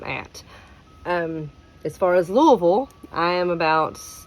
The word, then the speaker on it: Louisville: Um, and in case you're wondering, it is not Louisville, it's Louisville. Everything is ran together. That's just how we talk.